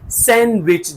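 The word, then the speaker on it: sandwich: सैंडविच लिखा हुआ है डी को आपने प्रोनाउंस नहीं करना कि सैंडविच नो सैंडविच जैसे कि हैंडसम हैंडसम नहीं हैंडसम सैंडविच हैंडसम इस तरह आप प्रोनाउंस करेंगे दूसरे एग्जांपल की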